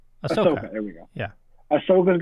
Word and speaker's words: Ahsoka: You know, and finding out that I can't never pronounce her name right. Ahsoka. Ahsoka.